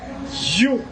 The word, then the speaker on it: HU: chanté mantra, son sacré, You, qui écrit H-U, mais qui prononce You, m'a propose, m'a tourné tout à l'heure.